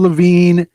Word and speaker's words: Lavigne: How do you Avril spell his Lavigne. last name? Levine. It's pronounced the same, just spelled different.